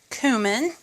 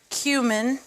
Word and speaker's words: cumin: it paprika onion powder cumin or cumin or however you want to say it I know we always have these arguments over how it's pronounced black pepper and kosher